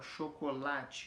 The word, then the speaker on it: chocolate: Ou ela é paroxítona, que a força dela está na penúltima sílaba, que é o caso de chocolate, que é o caso que está aqui, ó, chocolate. Então o lá é mais forte. Então a penúltima sílaba é uma palavra paroxítona.